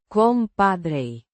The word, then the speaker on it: compadre: Compadre means buddy, pal or friend. pronounced compadre with a slight rolling sound.